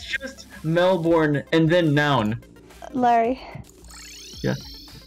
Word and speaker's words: Melbourne: any like special names with Melbourne it's just Melbourne and then noun Larry yeah it's Melbourne everyone always like everyone don't even worry about it's not a u issue everyone pronounces it Melbourne but I was thinking like born like bloodborne